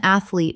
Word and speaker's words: athlete: Athlete. Two syllables only. The middle syllable does not exist. Example. She trained as an athlete from the age of